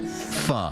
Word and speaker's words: pho: pretty much says it all, as long as you know Vietnamese noodle soup is pronounced pho.